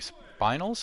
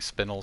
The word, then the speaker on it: spinel: to get my 30 spinals. I say spinal. I really like spinal. I think spinel sounds bad, but I think that's the proper way to say it.